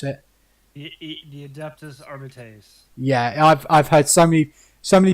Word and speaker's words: Arbites: but I believe the correct pronunciation Is Arbites, yeah.